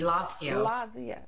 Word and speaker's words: Lasio: You are the founder of, and I don't know if I'm pronouncing it right, Lasio, is that right? Yes, absolutely, Lasio.